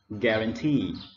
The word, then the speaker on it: guarantee: So the first word, we stress on the third syllable and we pronounce guarantee.